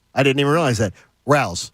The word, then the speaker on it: Rao's: But, oh, by the way, it has a pronunciation right here on it. I didn't even realize that. Rao's. Rao's.